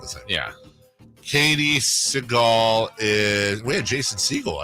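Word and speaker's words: Sagal: Is it Segal? No, Peg. Segal. Yeah. Segal, but not like Steven. Okay, but not spelled the same. Yeah. Katie Segal is.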